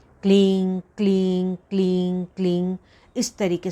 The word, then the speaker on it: क्लीं: तो जब आप उच्चारण करेंगे तो ना तो वो प्रॉपर एम आपके मुंह से आएगा या ना ही एन आएगा, ना तो वो प्रॉपर म हुआ ना ही प्रॉपर न हुआ। उसका उच्चारण कैसे करेंगे? आप नाक से करेंगे।